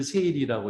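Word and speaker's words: 整理: 해요 거기서 아 그래요 일본말로 정리를 세일이라고 읽고 정도는 세이돈이라고 읽어요 그래서 이제 뭐 삼정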